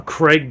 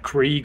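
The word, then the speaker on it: Kreg: they can connect um it's spelled k r e g Craig Craig or Craig uh so what I'm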